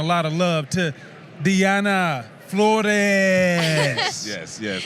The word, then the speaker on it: Flores: Nonetheless, let's give her a lot of credit and a lot of love to Diana Flores. Yes. How did I do with that pronunciation, though?